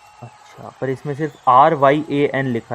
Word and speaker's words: Ryan: Bro, it's Ryan. The first part is Ra, second part is Yen. Check, Yeah, check, check, the Japanese currency Yen. अच्छा, पर इसमें सिर्फ RYAN लिखा है तो.